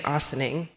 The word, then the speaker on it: Ossining: Thompson Mason I finally learned how to say Ossining um it's a thinning also saying we had